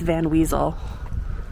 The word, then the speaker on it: Van Wezel: Yeah, I never know how to pronounce it. I think it's Van Wezel.